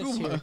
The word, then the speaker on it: Cuba: And so it gave me this Cuba. here. This is you have to say it right if you're gonna say Cuba. Cuba. It's like Cuba Gooding Jr.